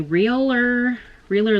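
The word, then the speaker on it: Realher: Now, next thing in here is the Realer Lip Liner Duo. I've got this before. It's spelled R-E-A-L-H-E-R. Realer. All right, and it's a lip liner duo.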